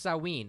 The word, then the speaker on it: Samhain: pronounced sowwy it's hung it's written Samhain but it's pronounced saw ween it's the ancient Celtic